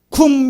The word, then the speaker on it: 쿰: 쿵 미 라고 한 여기 구미 라고 번역했는데 실제 발음은 쿰 입니다 쿤 후문 일어나다